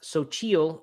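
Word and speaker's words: Xochitl: the big bag uh I guess it's pronounced sochil according to or Sochi I don't know according to this little pronunciation guide they put on the package um it's x-o-c-h-i-t-l sounds like some sort of uh you know Mayan or aztec Mexican word um and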